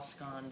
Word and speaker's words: scones: side just a clarification I'm sure many of you call scon scones but my mother is from Scotland and Scottish pronounce them scan so that's how I say it I think it's an Americanized way to pronounce them by calling them scon you call them what you want taste the same now we're going to